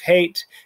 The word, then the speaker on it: het: That I teach that het is the, het is the guttural H. So, and the reason I'm saying that is because another letter will be a guttural K. And some people pronounce them exactly the same. They're slightly different. The way I was taught them is that they were slightly different, but think of it as a guttural H sound.